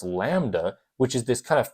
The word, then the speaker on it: lambda: or any sort of class wave the wavelength pronounce Lambda which is this kind of fancier symbol where